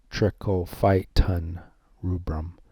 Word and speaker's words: Trichophyton rubrum: different types of t-rubrum that's pronounced trichophyton trichophyton rubrum if you're wondering how